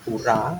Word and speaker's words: pura: Ya, pura itu bacanya pura. Itu bahasa Sanskerta kayak bahasa Jawa. A bacanya pura. Jangan kayak orang Malaysia. Karena dia menggunakan abjadnya bukan A B C D, pakai abjad Inggris. Jadi kalau ada kata-kata A, dia bingung bacanya, makanya selalu ngomongnya ya. Kota dia enggak bisa bilang kota, bandara bilangnya dia bandara.